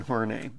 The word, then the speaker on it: Horney: should be I love that picture of Karen horney and that is the correct pronunciation now if she's one of the first